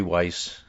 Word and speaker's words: Weiss: state courts said Jeffrey Weiss uh WIC rhymes with vice a professor at